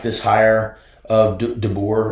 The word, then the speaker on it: DeBoer: From what I'm hearing from some Alabama people that I know, they really like this hire of DeBoer. Right. Am I saying it right? Yeah, Kalen DeBoer, that's right.